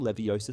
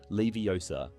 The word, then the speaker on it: Leviosa: However, in the film, she corrects him by emphasizing the correct pronunciation of the spell, Leviosa, not Leviosa.